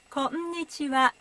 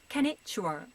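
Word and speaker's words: こんにちは: Konnichiwa. It is not konnichiwa. Konnichiwa. Each hiragana has one syllable.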